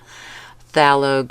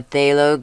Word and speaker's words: phthalo: Elizarin crimson orange y lemon yellow, not yemon yellow, phthalo green, or a phthalo green, however you want to pronounce it. Either way is correct.